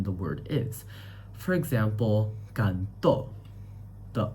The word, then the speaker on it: canto: And that makes the word different from canto which is song as well where the stress syllable is can.